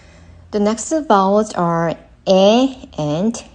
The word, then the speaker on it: 이: the next one is E. Just pronounce as E in C, but make it shorter. E. The next vowels are E and A.